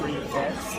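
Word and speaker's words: prix fixe: By the way, it's pronounced prefix, like prefix. It's just prefix, so I was making it way more complicated.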